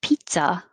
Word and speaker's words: pizza: you can think of pizza as pizza like pizza nice guy we don't say the zs we say pizz pizza 17 dogs this was